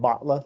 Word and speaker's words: Batla: It's spelled Batla, Batla, but said Batla, like you bought something.